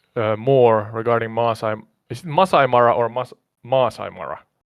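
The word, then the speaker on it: Maasai Mara: Is it Masai Mara or Masai Mara? It's pronounced Masai Mara with the emphasis on Masai and a slight pause before Mara.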